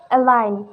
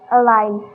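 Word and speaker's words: align: don't pronounce it example a line here g is silent a line camping sign resign here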